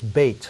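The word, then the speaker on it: בית: That's where, you know, temples are called Beit or Beth something. That Beth is another pronunciation of Beit.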